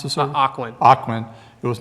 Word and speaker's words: Ocwen: this document was not created by, is it Oswin? Is that how you pronounce this? Ocwen.